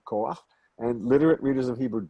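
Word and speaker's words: כֹּחַ: It is not kocha, even though it looks like it. It's actually koach.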